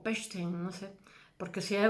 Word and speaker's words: Pechstein: Entonces se le une Emil Nolde, Kunamiet y Max Pechstein, Pechstein, en alemán la CH es una J, Pechstein o Pechstein, no sé, porque si es una zona se pronuncia de una manera, el dígrafo.